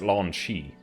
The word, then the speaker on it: Lon'qu: Okay, apparently in the non-English European versions it was Lon'zu, which is just a totally different pronunciation in English. Please tell me how to pronounce this name. How do you pronounce? Okay, so now being shown it's pronounced Lan Shi.